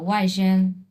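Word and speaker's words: 外甥: সো এই যে দেখো ওয়াইশেং, ওয়াইশেং, উচ্চারণ করো ওয়াইশেং।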